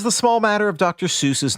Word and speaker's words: Seuss: Seuss was his mother's maiden name, as well as his own middle name, but it was apparently pronounced Seuss, as in rhymes with voice.